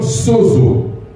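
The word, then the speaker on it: σῴζω: En grec, parce que la Bible, le Nouveau Testament est écrit en grec, le terme sauvé vient du terme sozo. Comme ça se prononce, S-O-Z-O.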